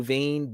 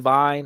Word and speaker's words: vein: Blue vein, blue vine. I thought it was blue vine. It's blue vein.